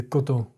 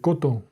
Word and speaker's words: coton: The French, man, they keep that mouth closed. It's not coton. It's coton. It's very closed. De coton.